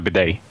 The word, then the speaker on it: bidet: Am I supposed to pronounce the T in that What? word? Oh yeah, the bidet.